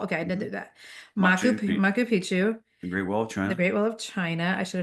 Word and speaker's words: Machu Picchu: So like she's going to, is it pronounced Machu Picchu? Machu Picchu, yeah.